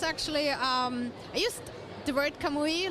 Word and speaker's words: Kamui: We're sitting here with Kamui Cosplay. You got it right. Perfect. Yeah. Thank you very much. Yeah. So we've been back and forth about the pronunciation, but I think it's inspired in Japanese.